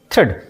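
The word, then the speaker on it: thread: इसी तरह टी एच आर ई ए डी A silent होगा। यहां पढ़ेंगे थ्रेड।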